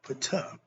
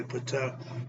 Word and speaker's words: Ptah: Then you got God Ptah, who, the story goes, he uttered himself into creation. The P is silent. So a lot of people say Ptah, he pronounced it T.